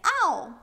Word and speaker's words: ㄡ: Then here is o as in the vowel you use to say bow tie. O the pinging is o